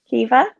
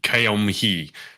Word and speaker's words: Caoimhe: Kiva, but it's spelled like Kiamhi.